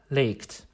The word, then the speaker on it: legt: third-person singular is leaked the form seems to reflect our short vowel but it is actually still a long vowel this is an exception and it breaks the rules you can only pronounce it correctly if you recognize how it is derived let's now put the